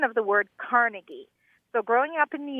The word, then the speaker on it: Carnegie: now living in California and it's about the pronunciation of the word Carnegie so growing up in New York you know